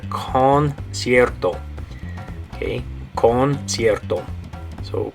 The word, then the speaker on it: concierto: Okay, now notice in that word it has a hard C and a soft C. The first C is going to be a hard C, make the K sound, concert, and then the second C is a soft C because it has an I right after it, and it makes an S sound. Okay, S sound. So you have K, S, concert.